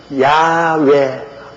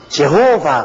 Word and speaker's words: 야훼: 우리 하나님 아버지의 성함도 가장 정확한 발음이 뭐냐면 야훼 하나님, 야훼. 근데 야훼 하나님을 이 영어로는 미국이나 영국 사람들 영어로는 제호바 그럽니다. 이 야훼라고 하면 정확한 발음인데 그 발음을 그들은 제호바. 한국 사람들은 여호와. 일본 사람들은 에호바. 이러니 여러분 아버지 이름도 하나 좀 듣기 발음 못하는. 그래서 제가 여호와라고 이름을 적어도 꼭 야훼라고 불러라고 하는 이유가 우리 아버지 성함의 정확한 발음은 야훼입니다.